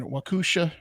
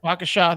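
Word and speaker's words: Waukesha: to a wooded area in Wakusha. I'm mispronouncing all these. Waisha. Wakasha. Wakasha. There you go.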